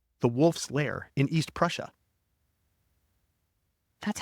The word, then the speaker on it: Prussia: at Hiller's headquarters the wolf's lair in East Prussia that's how you say it Prussia Prussia oh